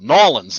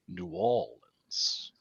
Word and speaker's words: New Orleans: i thought it was i thought it was nolan's and he was like no it's new orleans right up there it